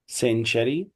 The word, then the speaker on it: century: ننطقها ازاي؟ French. century.